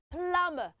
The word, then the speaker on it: plumber: and the thing is you don't pronounce the b sound in that word you don't pronounce the